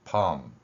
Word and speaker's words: pump: 소리 호흡으로 나타내 보겠습니다 그러면은 한 번의 소리 호흡이 나타날 때 펌 펌 이렇게 발음이 됩니다이 글자를 민정 표기 원리에